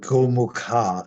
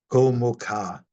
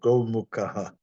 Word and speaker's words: gomukha: do my pronunciations, but Gomukha, it's a long A. When it has the slash over it, you don't do that little extra aha. Gomukha. If it wasn't a long A, then you go Gomukha.